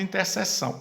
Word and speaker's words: intersecção: Aqui se escreve intersecção, mas você acaba lendo interseção.